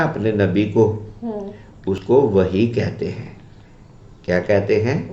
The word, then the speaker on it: وحی: ہاں، اصل تلفظ ہے وحیٌ. کیا ہے؟ وحیٌ. ہاں، لیکن چونکہ ہم پنجابی لوگ ہیں تو ہم تیزی میں اس کو وحیٌ کہنے کی بجائے وحی کہہ دیتے ہیں.